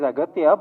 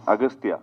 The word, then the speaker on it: Aghathiyaa: It is Aghathiyaa, but in the film, your name is pronounced in different ways. Agasthiyaa. Yeah. In both ways, it is pronounced. Yeah, it's Aghathiyaa and also Agasthiyaa.